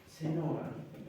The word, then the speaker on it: Chenoa: ¿Qué opina Chenoa? O Seno, ¿cómo se pronuncia? Chenoa.